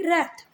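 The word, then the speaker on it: wrath: यहाँ पर एक वर्ड लिखा है रैथ, डब्ल्यू को प्रोनाउंस नहीं करेंगे, रैथ, ठीक है।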